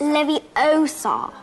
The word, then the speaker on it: Leviosa: someone's eye out besides you're saying it wrong what i say it's leviosa oh well dub